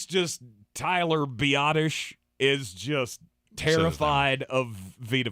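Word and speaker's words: Biadasz: Isn't that how you say it? It's how you're told to say it. Yes. But it's spelled Biadaz. Biadaz. Which on this here program, we pronounce it the way you spell it.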